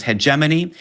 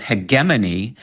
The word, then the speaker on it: hegemony: And we give three uh different transcriptions, three uh official pronunciations. There's hegemony, there's hegman, and there's hegeimony. I was going to say in my mind it's heedgeimony. So I'm glad that that is also an okay way to say it, especially since I work in radio.